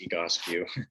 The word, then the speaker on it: Egoscue: right so first off the goski method um pronunciation is always a little tough so you'll hear us say it a few times egos you it comes from our founders last name pete